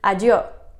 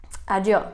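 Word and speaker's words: adio: of saying goodbye there is I do I do kind of like old school adieu I guess but I do that's how my family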